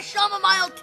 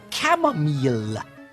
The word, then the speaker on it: chamomile: Good heavens, why must you always make me angry whilst I drink my shamomile tea? Um, father, I believe your tea is pronounced chamomile.